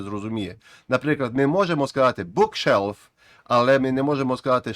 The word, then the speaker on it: bookshelf: Bookshelf. Ми не кажемо bookshelf, а bookshelf. Так само буде car park, не car park.